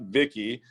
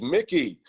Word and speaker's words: Mickey: you out there oh sorry not vicky it's mickey mickey are you out there